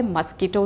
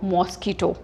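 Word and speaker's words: mosquito: होता है मस्कीटो से, और इसको आप कैसे बोलते हो, मॉस्कीटो। अक्सर हम क्या बोलते हैं, मॉस्कीटो। मच्छर को हम इंग्लिश में, इसकी करेक्ट प्रोनाउंसिएशन इज मस्कीटो, इसकी करेक्ट प्रोनाउंसिएशन क्या है, मस्कीटो।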